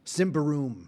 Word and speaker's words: Simbarum: But okay, so choosing our races in the how do you pronounce Simbarum? Simbaroom. Simbaroom, Yeah.